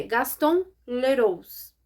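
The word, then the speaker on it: Gaston Leroux: Fantasma da Ópera gente eu cheguei a pesquisar como que se pronuncia o nome desse autor mas é Gaston leros eu acho que é assim eu acho que eu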